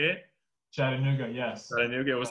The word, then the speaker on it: Chattanooga: tech gamers i can never say this name chattanooga is how you say it chattanooga yes i knew it was like a close